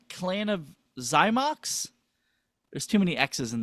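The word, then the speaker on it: Clan of Xymox: Clan of Zymox.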